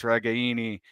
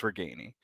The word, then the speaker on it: Ragaini: And then and then Nico came in and put something on Twitter of like, yeah, technically it's Ragaini, but just say it fast. It's Ragaini.